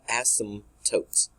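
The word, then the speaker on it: asymptote: understand so we're called ASM tootes so the p is kind of is silent so with that it's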